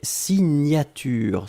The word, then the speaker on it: signature: Deuxième chose, un substantif et c'est signature. Souvenez-vous, le GN, la prononciation, c'est gne, gne, gne, gne, gne. Signature.